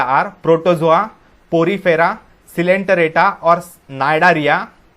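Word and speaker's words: Cnidaria: Those phyla are protozoa, Porifera, सिलेंटरेटा और नाइडारिया, सी silent है, नाइडारिया, प्लैटीहेलमिन्थेस, एस्कीहेलमिन्थेस, Annelida, arthropoda, Mollusca, Echinodermata and Hemichordata.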